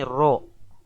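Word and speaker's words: ρ: jenis air massa jenis dilambangkan dengan roh-roh bukan p dibacanya ini roh adalah A1000 kg per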